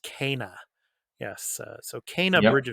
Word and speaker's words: Kena: is kina but uh her her name is pronounced kana yes uh so canaan bridge of spirits so